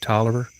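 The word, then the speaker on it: Taliaferro: if you look at talifaro county which is pronounced toler they did have five gold mines here but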